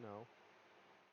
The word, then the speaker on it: know: this is why uh some people pronounce the k although they are pronouncing it wrong when people say i